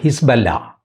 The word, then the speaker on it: ഹിസ്ബുള്ള: നിന്ന് ഹിസ്ബുള്ള ഞങ്ങളെ ആക്രമിച്ചു നന്ഹു ഹിസ്ബല്ല എന്നാണ് പറയുന്നത് അതിന്റെ ഉച്ചാരണം ഒരുപക്ഷേ അതായിരിക്കാം നമ്മൾ പറഞ്ഞു ശീലിച്ചത് ഹിസ്ബുള്ള ആയതുകൊണ്ട് ഞാൻ ഹിസ്ബുള്ള എന്ന് പറയുന്നു സിറിയയിൽ നിന്ന് അവരുടെ പട്ടാളം